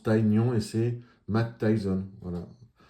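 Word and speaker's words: Tygnon: Donc pour l'anecdote, Kikli à Bruce Lee et Tignon en fait on prononce taon et c'est Matt Tyson.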